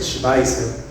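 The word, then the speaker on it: Schweitzer: y Nieto de Albert schweiser un gran pastor leran que hizo muchas obras de Caridad llevó muchas de los hospitales a África Albert schweer se escribe se pronuncia schweiser y sartre fue el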